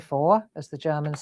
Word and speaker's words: vor: And then vor is actually spelt like that, but you say it like an F.